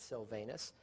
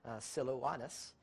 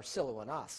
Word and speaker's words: Silvanus: Paul and Silvanus, as we would pronounce it, Silvanus, not the correct pronunciation, but it's actually Silouanus, or Silouanas is actually the correct